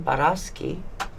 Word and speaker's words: Baraschi: been the truly brilliant and fascinating Mr barasi did I pronounce that correctly absolutely perfect thank you and